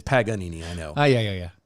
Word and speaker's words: Paganini: sit and you know drop pagnini you know what i mean and and it kind of may not be saying it right but that's fine i know because but it's funny to me yeah it's paganini i know oh yeah